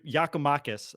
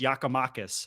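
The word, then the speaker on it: Giakoumakis: half 100 they whatever the Greek yakumakis I believe is how I learned how to say it your ghost yakamakis I believe was just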